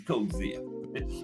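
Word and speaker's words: Coetzee: I used to say Coi, but Bruce Castia. I heard people say his name, but it was to me it was Code Zia. I mean Coi, but it's Cozia.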